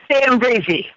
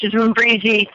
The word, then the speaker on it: Mimbarizi: It's Mimbarizi. You kind of skip over the M, so it's Mimbarizi, Masaka, Uganda, Africa.